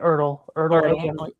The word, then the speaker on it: Ertl: Ertl Yeah.